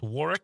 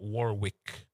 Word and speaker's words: Warwick: It's it's it's pronounced Warick, not Warwick.